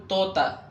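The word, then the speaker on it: طوطا: بعد ذلك طا ونطقه مثل تي يعني طا وتي يكتبان مثل ما يكتبان في العربية لكن ينطقان كتي، فنقول توتا.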